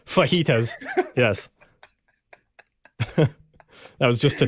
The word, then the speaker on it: fajitas: question do you know what vegetas are that's what I had for dinner for dinner and I I purposely pronounced that wrong she does have the pronunciation here because I know that we usually pronounce them wrong fajitas yes that was